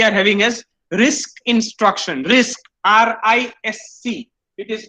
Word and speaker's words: RISC: RISC, R-I-S-C. It is pronounced as RISC.